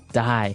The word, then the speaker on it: dye: you're dyeing it okay dye so it's pronounced exactly the same way as you know to die to not live anymore die but it's spelled differently